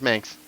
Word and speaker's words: Manx: Manx rides with Spanx.